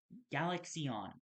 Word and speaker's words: Galaxion: a void lord and galaxion uh galaxyon there both to be pronounced galaxy but eon uh they all need permission to be used from me.